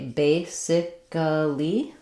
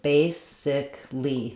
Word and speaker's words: basically: Did you say basically with four syllables or did you say basicly with three syllables? Basically is correct.